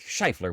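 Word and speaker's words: Scheufler: no that's fair because definitely doesn't spell like it sounds the last name is spelled s c h e u f l e r and thank you Eric for that chance cuz you're right it doesn't sound like shifler when you spell it that way right in the kind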